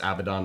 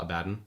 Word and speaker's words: Abaddon: that Games Workshop did a video of like pronunciation for Warhammer words uh apparently it's avadon not abaddin which makes me happy because I've always hated